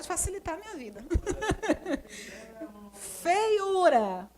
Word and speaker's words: feiura: Feiura. Feiura. A sílaba tônica é esse U aqui, né?